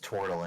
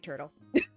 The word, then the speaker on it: Tortle: It's pronounced Tortle, and you know it. I know. I'm just saying turtle.